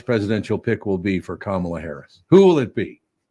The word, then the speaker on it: Kamala: Kamala, whatever, It's however pronounced, you it's actually is pronounced Kamala.